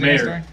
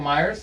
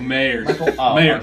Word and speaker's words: Mayer: How do you pronounce it? Mayer. Michael Myers? Michael Mayer. Mayer.